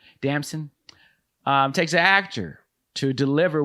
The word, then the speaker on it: Damson: Damson.